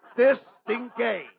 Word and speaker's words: distingué: Or, as they would call you in French, distingué. Did I have that again in French? In French, certainly. That French, you see, the French change the last two syllables. In English, it's distinguished. In French, it's stingé.